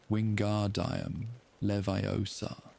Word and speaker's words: Wingardium Leviosa: Wingardium Leviosa. The accent is on the gar in Wingardium and the O in Leviosa.